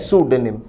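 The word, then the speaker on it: pseudonym: Option A एक अच्छा शब्द है सूडोनिम। उच्चारण पर ध्यान दें, पी साइलेंट है।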